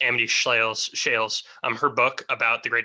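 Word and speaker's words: Amity Shlaes: But one of the things, when I listened to, I think her name's pronounced Amity Shales, her book about the Great Depression, I wish I knew it off.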